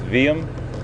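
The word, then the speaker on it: Wium: that others didn't and in afrikaans the w is pronounced as a v so it's veeam uh i call him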